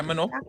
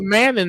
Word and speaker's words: Mano: That's how you say her name? Yeah, Mano. I thought it was Manning the whole time.